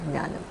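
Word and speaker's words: jñānam: Gya is this, it's Hindi pronunciation. In Sanskrit, you call it Jnanam.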